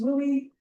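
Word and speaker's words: WUE: W U stands pronounced WOOI stands for Western Undergraduate Exchange.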